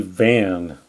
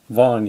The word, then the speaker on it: Lindsey Van: Justin Reiter snowboarding lien Lindsey van not not Lindsey Vonn you pronounce a bond